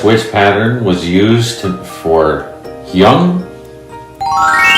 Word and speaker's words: hyung: And the third syllable is hyung.